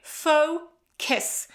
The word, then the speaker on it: focus: Focus. You have this schwa sound here as well. It's as if you were saying actually kiss, to kiss somebody, okay? So focus, focus. Stress on the first syllable.